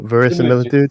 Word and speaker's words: verisimilitude: Oh, verisimilitude.